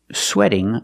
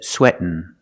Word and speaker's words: sweating: because he's exercising so the most common pronunciation of sweating is sweating like wedding but there's also another pronunciation you might hear some people say sweating sweating here you take the tea you make a stop T sweat and then you fall to the end sweat sweating sweating a